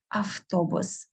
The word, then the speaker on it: автобус: Same we do with автобус, автобус. Instead of v, we most often pronounce f.